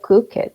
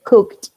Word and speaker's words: cooked: Esas palabritas, por ejemplo, cook, no se dice cook it, se dice cooked, cooked.